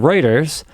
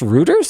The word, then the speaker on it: Reuters: Um, is it pronounced Ruters? I thought it was Reuters. Reuters.